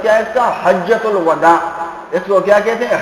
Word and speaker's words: حجۃ الوداع: لیے جو ہے تشریف لائے۔ حجۃ الوداع صحیح تلفظ کیا ہے اس کا؟ حجۃ الوداع، اس کو کیا کہتے ہیں؟ حجۃ الوداع۔ اس سال کے موقع پر رسول اللہ صلی